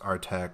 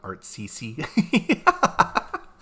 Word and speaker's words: ATCT: I was today years old when I found out it's pronounced Artec and not ATCT. You know, there's really no actual guide on how to pronounce it, but I like Artec personally, and it sounds cooler than ATCT.